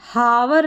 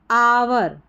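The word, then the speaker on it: hour: pronounce कर सकते हैं जैसे ओ यू आर को आवर बोलते हैं तो एच ओ यू आर को भी आवर पढ़ेंगे इस आवर का मतलब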